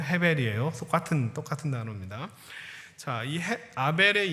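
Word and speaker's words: הֶבֶל: 하는 그 아벨의 인생이 우리가 사실은 이게 아이라고 발음하지만 실제로 아벨의 히브리어 원래 이름은 헤벨이에요 똑같은 똑같은 단어입니다 자이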